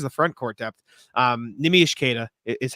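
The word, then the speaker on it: Neemias Queta: as far as the front Court depth um nimish kada is how you pronounce it or neimi neim is easy NE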